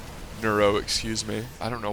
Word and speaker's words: Neuro: in the base here the main base for noro nuro excuse me I don't know why it is so hard for me to pronounce this guy's name it's not that it's